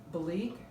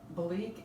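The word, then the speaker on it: Belleek: thousands of dollars another antique item name is bleak and this is one of the marks it's spelled b-e-l-l-e-e-k and bleak is a very fine delicate china now this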